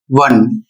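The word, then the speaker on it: one: तो यहाँ पर देखिए इसका जो उच्चारण होता है वन, और इसका जो उच्चारण होगा वंस।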